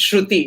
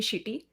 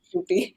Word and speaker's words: Shruthi: How can they mispronounce Shruti? It is so simple. There are no syllables. Surprised. You'd be surprised. You'd be surprised. Really? Sorry to interrupt that, but I have to know how has it been mispronounced? So the first time when I came to the US, someone called me shitty, and oh my God!